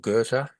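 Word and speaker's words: Goethe: the great spiritual philosophers called Gerta Ge T which you'd never know was Gerta but I knew a a person of German Austrian background and he assured me that's how you pronounce his And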